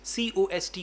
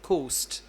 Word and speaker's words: cost: Then the word is cost, C O S T, cost, but you pronounced it as coast.